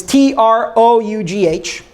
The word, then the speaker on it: trough: unfortunately the spelling is kind of weird it's TR o ugh it's pronounced trough and that is like the typical